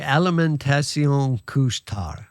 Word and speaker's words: Alimentation Couche-Tard: How do you pronounce that again, Jeff? Well, I think it would be alimentation couche-tard, which just basically means late night food.